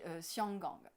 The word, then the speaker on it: Xianggang: en européen, et puis Hong Kong qui ne s'appelle pas du tout Hong Kong non plus, qui s'appelle le port au parfum, qui se dit Xianggang.